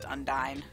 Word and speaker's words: Undyne: Or Undyne, I guess, is how most people pronounce it. I've always pronounced it Undine, but I'm pretty sure it is correctly pronounced Undyne.